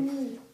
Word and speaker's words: knee: The K is silent. Key. No, I'm going to help you. Knee.